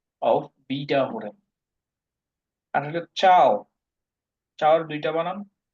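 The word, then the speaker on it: ciao: হবে গুড চাও আর দুইটা বানান দুইটার উচ্চারণে চাও সি আই এ ও চাও বা টি এস সি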